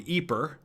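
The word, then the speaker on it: Ieper: also in Belgium where the natives call the town eeper but the French call it Eep and the British called it wipers and there's a lot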